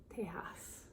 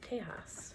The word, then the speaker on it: Tejas: i didn't know that chaos i guess that was the name of the tribe too i pronounced it wrong tejas friendly people and still